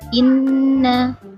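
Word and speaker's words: إِنَّا: Seperti biasa huruf bertasydid, di sini huruf nunnya bertasydid dan dia karena nun maka berdengung. Seperti kalau namanya di pelajaran tajwid namanya adalah hukum bacaan bilgunnah. Jadi bacanya ditekan dan berdengung. Inna, inna, inna, inna syani'aka huwal abtar. Inna, ditekan dan berdengung dua ketukan.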